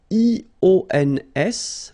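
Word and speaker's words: ions: So now let's see nous, and nous goes like I-O-N-S, okay, and it should be pronounced ion. Remember, final S is not pronounced.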